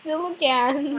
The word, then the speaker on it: coelacanth: It's a C-O-E-L. Yeah, but it's pronounced Silicon.